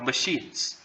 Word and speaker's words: machines: a lot of chairs a lot of chairs 13 a lot of machines a lot of machines i'm sorry i stressed the wrong syllable a lot of machines 14 a lot of